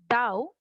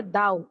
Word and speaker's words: thou: दाउ, THOU, इसका pronounce भी करेंगे बेटा दाउ।